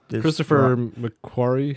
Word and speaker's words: Christopher McQuarrie: No, Christopher McQuarrie. Yeah, that's how you say his name.